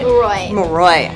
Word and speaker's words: Moroi: Moroi.